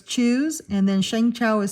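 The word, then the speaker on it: Shang Chao: So it's choose and then Shang Chow is spelled S H A N is in Nancy G C H AO.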